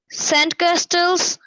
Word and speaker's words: castles: Sandcastle, হ্যাঁ, ক্যাসেলস, যেমন হচ্ছে লিসেন বানান কি? LISTEN, লিসেন, তাই না? আমরা কিন্তু টিটা বলি না, শুধু লিসেন বলি, ঠিক তেমনি ক্যাসেলস, এখানে টিটা উচ্চারণ হবে না, কিন্তু লেখার সময় টি লিখতে হবে।